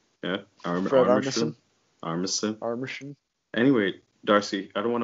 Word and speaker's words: Armisen: Armisen? Yeah. Armisen.